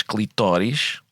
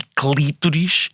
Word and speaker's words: clitóris: É que nós dizemos em português clitóris e clítoris, e aparentemente vem do grego clitoris. Ou seja, acentuada na última sílaba. E a gente ou acentua na antepenúltima ou na penúltima.